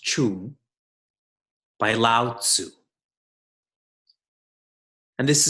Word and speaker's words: Ching: It's spelt Ching, pronounced Chung, by Lao Tzu.